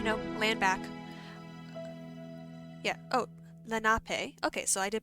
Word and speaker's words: Lenape: nape tribe you know land back yeah oh lenape okay so i did pronounce it right that's good hey so let's